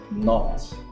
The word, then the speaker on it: knot: tied in a double knot which one would be the correct spelling let's have a look not with the k with the silent k okay because the other